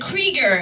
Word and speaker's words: Krieger: And I was like, Krieger. It rhymes with beleaguer.